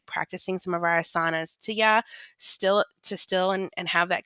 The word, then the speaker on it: asana: I will say asana has the emphasis on the first syllable.